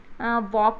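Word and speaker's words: walk: जैसे कि वॉक में एल जो है वो साइलेंट होता है, तो ऐसे अंडरलाइन कर देंगे।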